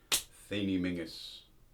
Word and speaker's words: Theniel Menzies: Theniel Menzies. It's pronounced as it would be in Gaelic, a Highland name.